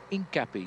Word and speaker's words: Hincapie: And George, they call him Hincapie, slightly different pronunciation to what we call him in American.